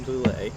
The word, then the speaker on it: Boullé: hanging out at Queen City clay with Amy Boule how do you is that the right way